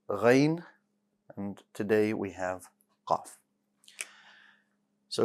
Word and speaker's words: ق: so it's not off so don't pronounce it as a k sometimes it's pronounced like